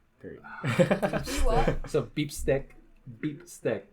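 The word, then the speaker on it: bistek: r period what so beep stick beef steak that's how Filipinos pronounce it is pronounce what beef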